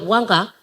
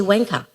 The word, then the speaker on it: wanga: Like for instance, if you use the word wanga, you write it down, and I've heard this amongst non-Indigenous people, or the Walibalas, they say wanka.